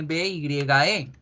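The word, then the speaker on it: bye: La palabra chao tiene B-Y-E. Yo veo solamente una vocal E, no habría un diptongo, pero ese se pronuncia con el diptongo I, by.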